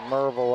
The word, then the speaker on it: Maryville: Cross court it goes to Lexi Patty out of Maryville, Tennessee. They pronounce it Merville up there, M-U-R.